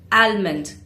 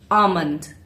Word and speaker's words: almond: Many people say almond, but the correct pronunciation is almond.